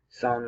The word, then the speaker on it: psalm: be a little better psalm 19 which is psle that in the greek when they use words for air you have that silent p like uh pneumatic that p in that